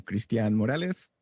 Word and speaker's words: Cristian Morales: And I'm Cristian Morales. That's how you pronounce it, by the way.